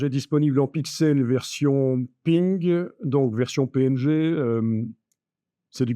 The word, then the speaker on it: PNG: disponible en pixel version ping donc version PNG c'est du bitmap donc ça veut dire du pixels du PNG c'est le format ça se prononce ping en anglais elle est disponible en